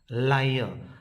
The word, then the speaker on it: liar: Liar. So word ends with R, so the R should be silenced here. The liar is the pronunciation.